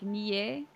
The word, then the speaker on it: NieR: you're not sure how to put it over text, but if you take the A out of helicopter, it'd be like NieR.